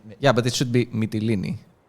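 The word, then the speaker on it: Mytilene: have didn't say yeah but it should be metillini not my chili i think the way i learned it for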